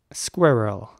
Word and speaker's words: squirrel: including myself really now in British English this word is pronounced something like squirrel now it's not exactly